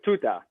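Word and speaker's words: Tutar: ate itself oh true two tar two tar say you pronounce it i think so yeah her name was tuta not the monkey no not the tuta the r is like slightly silent um and so she's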